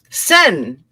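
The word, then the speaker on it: Seine: you say it though Paris France let's see pronunciation sen thank you okay so where are you River quote The Traveler in a boat on the sen on the okay let's try again the traveler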